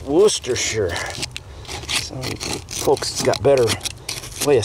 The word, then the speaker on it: Worcestershire: like a worcestershire sauce worcester and i was corrected and it's worcestershire folks got better way